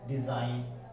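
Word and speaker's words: design: अगला आप जो रूल है वो देखिए, अगर G, जो G लेटर है, अगर वो N से पहले आता है तो इस जो G है वो साइलेंट हो जाता है।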